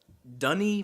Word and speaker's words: Denis: It's Dunny Villeneuve. Villeneuve. Dunny Villeneuve. Denis Villeneuve. Yeah. Denis. Maybe it is French.